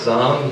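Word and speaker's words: زعم: پہ کہاں فدا ہوئے، اس میں ایک لفظ ہے زام، اس کو عام طور پہ زوم پڑھا جاتا ہے لیکن اس کا تلفظ زام ہے، خود میں ہی مبتلا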